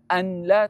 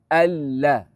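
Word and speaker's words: أن لا: Alla nun tak payah bunyi eh. Memang ejaan dia ada nun. Jangan sebut anla. Tak payah. Dia terus masuk dalam lam tu. Nun tak bunyi. Silent. Alla.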